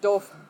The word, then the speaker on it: Doof: Okay, but it is pronounced doof.